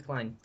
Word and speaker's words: Klein: Colin? What? Redhead guy? Oh, What's the redhead guy's name again? I always Oh, forget. Klein. Its name's Klein.